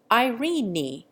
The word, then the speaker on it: Irene: Irene is given 2 syllables, making it Irene.